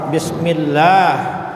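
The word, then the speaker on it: بسم الله: Jadi baca bismillah itu Allah itu dibaca tipis, panjangnya adalah 2 harakat bismillah.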